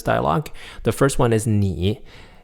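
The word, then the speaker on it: 你: words in this dialogue the first one is nee it's spelled in AI with a little tick on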